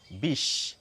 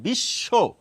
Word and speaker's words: বিশ্ব: করছি কি রকম করছি যার সঙ্গে এই ব ফলাটি যুক্ত রয়েছে সেটিকে দুবার উচ্চারণ করি সেই জন্যই দেখুন বিশ্বের